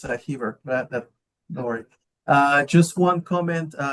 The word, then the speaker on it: Heber: How do you pronounce it? Heber.